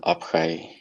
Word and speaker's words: Abhay: I mean, he asks Avitohol, how do you like Abhay or Abhai? I don't know how to say his name. Oh, well, Abhay.